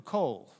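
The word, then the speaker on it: קול: You don't pronounce the vav here. It just has an O sound. It takes a vowel sound. Then you've got the L at the end, kol.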